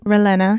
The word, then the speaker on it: Ralena: Elena is that how you say it ralina yeah so my middle name is a cross between my father's middle name which is Ramos and my mom's middle name Elena so I love it